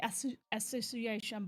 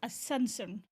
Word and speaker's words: Ascension: time uh is Ascension I say ass Association but it's Ascension as is Ascension oh my God uh